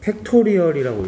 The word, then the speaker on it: 팩토리얼: 1번 N 느낌표라 되어 있는데, 이 느낌표를 팩토리얼이라고 읽으면 돼. 뭐라고? 팩토리얼. N 팩토리얼이라고 읽으면 돼요. 그럼 이건 뭐라고 읽으면 되겠어? O 느낌표 이렇게 읽는 게 아니고 O 팩토리얼 이렇게 읽으면 돼.